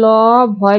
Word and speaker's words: লভ্য: এরপর আছে ল ভয় জ ফলা, এর সঠিক উচ্চারণ হবে লোকার লো, ব ভয়কারের ভূ, লভ্য।